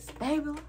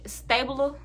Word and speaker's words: Stabler: well olivia benson and elliot stable see i say his name wrong i think stabler stabler stabler stabler stabilo